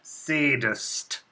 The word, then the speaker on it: Szadist: am your physician Dr sadist that is spelled s z a d i s t the Z is silent as I prefer you